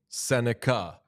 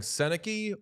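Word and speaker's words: Sennecke: It does say pronunciation Beckett Senica. Yeah. So, are we putting him on not a good friend watch for saying Senaki or are we putting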